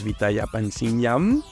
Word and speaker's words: Vithaya Pansringarm: We are back and still with Kun Pu, also known as VITHAYA PANSRINGARM. Am I pronouncing correctly?